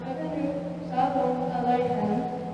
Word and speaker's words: Havenu Shalom Aleichem: This style Havenu Shalom Aleichem is pronounced Havenu Shalom Aleichem, the CH in Aleichem having a guttural sound similar to the sound of clearing your throat.